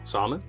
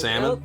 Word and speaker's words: salmon: Salmon? Yeah. Yeah. Yeah. I was like 30-something years old when they finally was like, Salmon? the L is silent.